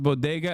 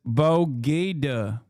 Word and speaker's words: bodega: Throwback when Jill pronounced bodega as bogeda.